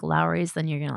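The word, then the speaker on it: Lawry's: You guys ever have the Lori's seasoning salt? Oh, Lowry's. Lowry's? Is that how you pronounce it? Yeah, it's Lowry's.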